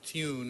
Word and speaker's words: Thune: in congress for senate named thune if you pronounce tune i think is how you pronounce it who's a republican but